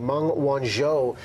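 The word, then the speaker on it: Meng Wanzhou: the extradition of CFO I gotta get this pronunciation right Mong Wan show with Huawei Richard Kurla an immigration lawyer you're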